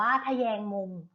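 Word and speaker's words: ทแยงมุม: ว่า ถ้า แยง มุม ทะแยง มุม อ่าน ว่า ขะ แยง mon ทแยง มุม ประกอบ ไป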